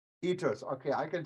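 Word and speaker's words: kiitos: wanted to thank you how do you say thank you in Finnish itos itos okay I can say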